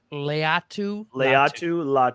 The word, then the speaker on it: Latu: Latu. I think it's Leatu.